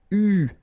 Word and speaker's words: eu: so it's an exception, it is pronounced U, okay? U, that's the way you should pronounce it.